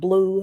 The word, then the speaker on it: blue: next okay and then the letter e is silent in the word blue so when we put